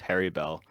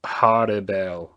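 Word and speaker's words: Harribel: Yeah, so I always thought it was Harry Bell, or it's almost like a Halle Bell. Like, did you see how I kind of like almost like rolled the L's? That's kind of how it's supposed to be pronounced.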